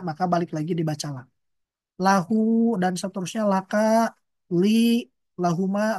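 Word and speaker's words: لَهُ: Lahu, lahum, lahu, lahuma, lahum. Nah isim domirnya tidak terjadi perubahan. Tidak dibaca lahi, tapi dibaca lahu. Tidak pula dibaca lihi, dibacanya lahu.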